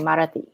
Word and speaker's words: Marathi: And you speak English, Hindi, and Marathi. Did Yes. I pronounce it correct?